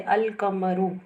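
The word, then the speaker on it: القمر: जैसे अल कमरू, अल कमरू, कमर में अल को प्रोनाउंस किया गया, लेकिन अशमसु में लाम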